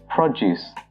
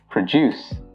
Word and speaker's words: produce: If you're using the noun form of this word, you pronounce it as produce.